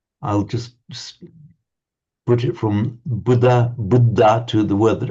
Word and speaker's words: Buddha: Buddha budda. Yeah, that that. Okay, you you you're nearly there. That was dental. Um, but just the little aspir sound coming out after it.